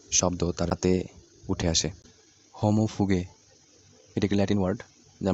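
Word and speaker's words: homo fuge: এর আগের ভিডিওতে আমি এটাকে মেবি হোমোফিউজ বলেছিলাম, কিন্তু এটা তো ইংলিশ ওয়ার্ড না, এটা হচ্ছে ল্যাটিন ওয়ার্ড, আর ল্যাটিন প্রোনাউন্সিয়েশনটা হবে হোমোফুগে।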